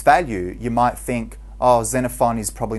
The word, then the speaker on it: Xenophon: about his name that the name Xenophon is pronounced as if it has a Zed so don't get too confused about that just pretended as a Zed there and Xenophon was an Athenian soldier